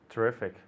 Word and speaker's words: terrific: Terrific. Exactly. Okay, great. Terrific. Okay, the intonation is on the E.